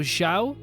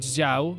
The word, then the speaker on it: Xiao: Actually pronounced as she, so Xiao, and not Xiao, like you would actually be pronouncing it. Yeah, Xiao, not Xiao.